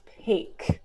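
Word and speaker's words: pak: and there's one called PA K which it's pronounced Paik to denote the difference but ya take and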